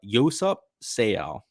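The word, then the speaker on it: Yoseop Seo: it's because of their birdie production first up yosap sale so that's how you say his name actually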